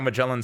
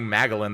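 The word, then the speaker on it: Magallan: mellin spoke and I and she said I'm mellin I was like oh I've been saying magalin this entire time however that's on the game mellin like the Explorer is spelled with an E not my fault but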